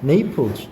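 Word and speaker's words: Naples: 네이플즈. 이게 우리가 말하는 이제 영어 발음은 네이플즈인데 우리는 나폴리라 그러지.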